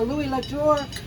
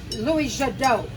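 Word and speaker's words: Louis Jadot: there's a Bo there there's a Louis lur a Bo here a Bo vage oh no it's louiso Louis Jadoo Lou Jad B vage we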